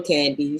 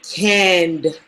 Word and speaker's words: Candy: And either way, it's still candy. So um, I don't mind it. I do stress the D because people will say canned, and now like, no, my name is not canned, it's Never candy.